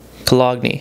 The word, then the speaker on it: cologne: And that is cologne, or cologne, as I say sometimes, because English is weird and there's a random G in there for some reason.